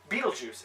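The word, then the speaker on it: Betelgeuse: giant fun fact is Beetle chw not as in like the movie but there's a star it's spelled b e t e l g e u s e Beetlejuice is our biggest super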